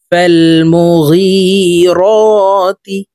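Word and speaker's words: المغيرات: মুগি র খারা জবর র তা জের তি ফাল মুগিরতি সদে বা পেশ সুবে হা আলিফ জবর হা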